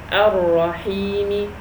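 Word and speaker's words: الرحيم: Why didn't I say Ar-Rahimi? Because I stopped.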